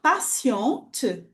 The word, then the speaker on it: patiente: Mas se eu pronunciar patiente, é uma mulher, certo?